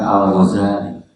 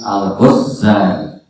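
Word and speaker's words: الغزالي: Jadi yang sebagian para penulis sejarah itu membacanya bukan al-Ghazali, tapi al-Ghazali, tasdid za, ya.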